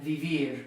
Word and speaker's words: vivir: And then comer and vivir, common verbs you know. So to speak, to eat, to live, because they don't end in a vowel, they don't end in an N, and they don't end in an S, the stress is going to be on the final syllable.